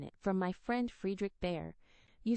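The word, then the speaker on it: Bhaer: It isn't pronounced either bear or beer as people will say it, but something between the two as only Germans can give it.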